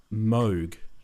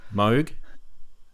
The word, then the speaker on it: Moog: of mwg is like Moog the long o sound it rhymes with the word Vogue and then you've got these guys down the bottom saying they're idiots anyone knows it's pronounced Moog that's dumb it's clearly